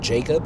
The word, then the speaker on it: Jakob: Oh, and what I've been listening to, this morning I found this new artist called Jacob. It's spelled Jakob.